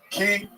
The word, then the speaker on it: Qi: Q Chi Key.